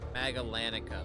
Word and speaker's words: Magallanica: Magallanica, that's how you say it.